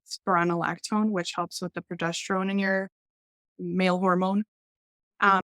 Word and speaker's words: progesterone: I'm I was like low on estrogen and progestogen progesterone how do you say it progesterone progesterone yeah and so it's tough it affects a